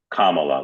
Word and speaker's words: Kamala: pronounce her name accurately it's Kamala like the punctuation mark comma that's my Canadian accent